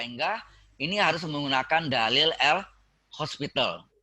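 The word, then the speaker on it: L'Hôpital: Hospital nggak pakai S ya, pakai topi. Kalau pakai S hospitalnya rumah sakit nanti. Jelas maksudnya? Di dalil L bacanya hospital tapi tulisannya tidak ada S-nya karena topi itu ada S ya.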